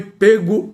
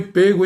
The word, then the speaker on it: pego: É certo que o verbo pegar tem pronúncia aberta apenas no presente do modo indicativo. É consenso entre os estudiosos do idioma que a pronúncia deve ter timbre fechado.